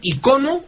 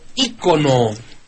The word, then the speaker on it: ícono: de Cuautepec de Madero maestro debemos decir icono o icono bueno la Real Academia Española acepta las dos formas Aunque tengo entendido que